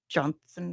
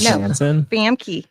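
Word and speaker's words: Janssen: It's so funny with Famke Johnson, or however you say. How do you say her name? You know what I mean? The girl from X Men. Which girl from X-Men? Rebecca Romaine Stamos? Jansen.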